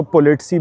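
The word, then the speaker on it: politsei: साथ में यहाँ पे पुलिस को पोलिट्सी बोलते हैं भाई, पोलिट्सी, क्योंकि हर कंट्री में अलग प्रोनाउंसिएशन होती है, तो यहाँ पे पोलिट्सी है।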